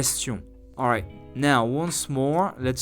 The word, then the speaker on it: question: Yet while in English, QU is pronounced quoi, as in question, in French it is pronounced simply as K, question, like the letters K or C. Let me repeat it again. K, question.